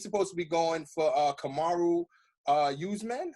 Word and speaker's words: Kamaru Usman: And he's supposed to be going for Kamaru Usman.